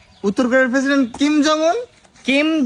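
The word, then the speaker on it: 김정은: উত্তর কোরিয়ার president Kim Jong উন। কিম জং উন, ওটার উচ্চারণ হবে এরকম, কিম জং উন, কিম জং উন।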